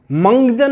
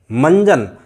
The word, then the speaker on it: मंजन: के बाद ज है, जब हम इसको बोलते हैं तो स्वतः ही मंजन, मंजन, मंगजन नहीं आ रहा है, मंजन अपने आप आवाज़ आ